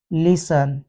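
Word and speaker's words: listen: जाता है कासल या टी के बाद ई एन लगा हो तो भी टी साइलेंट हो जाता है अफन लिसन क्रिस्मस एक स्पेलिंग यह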